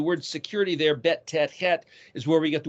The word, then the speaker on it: het: The word devastation is het resh mem. The letter het is the 8th letter, pronounced similar to a CH or an H or a CX.